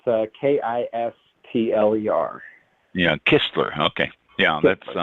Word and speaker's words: Kistler: It's Kistler. Yeah, Kistler. Okay. Yeah, that's wasn't sure. I tried to pronounce it before you came on.